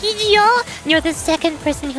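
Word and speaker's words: E.G.O: I pronounce it the way that it is spelled, which is EGO.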